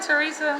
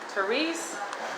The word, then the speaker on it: Therese: right therese i just i call you teresa my bad for mispronouncing your name therese it's just like you